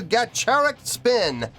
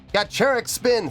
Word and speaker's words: Gacharic Spin: here we go yeah I've been corrected a lot lately on on how to pronounce gacheric spin it was like the CH is a CH not a cut and I'm like fine